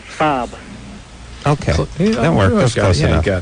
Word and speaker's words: Saab: to me please Volvo Sab okay work close enough got it yeah unlike my barber who says uh Bobo and Sab sa yeah Bobo and Sav those are the way he pronounces it like listen you jackass